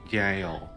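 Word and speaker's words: gaol: this she's back I'm g a o l gal but you pronounce it as J I can see it jail D I learn it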